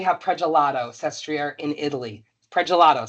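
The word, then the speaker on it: Pragelato: Pelato sounded like the ice cream gelato. That's how you can pronounce it.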